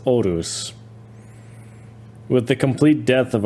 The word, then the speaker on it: Horus: It says here brackets pronounced Orus with the complete death of ourselves.